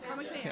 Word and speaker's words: Comics And: Am I saying it right? Comics And? Yes, Comics And.